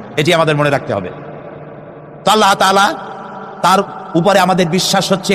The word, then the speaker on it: আল্লাহ: বিশ্বাস আল্লাহর নাম আল্লাহ বলেন তো আল্লাহ নয় কিন্তু আল্লাহ হচ্ছে অশুদ্ধ শুদ্ধ হচ্ছে আল্লাহ বলার সময় মুখটা গোল হয়ে যাবে বলেনতো সবাই উচ্চারণ করেন